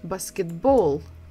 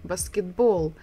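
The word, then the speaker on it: баскетбол: English we say basketball in Russian we say basketball basketball again we're stressing the final syllable the last syllable so there is no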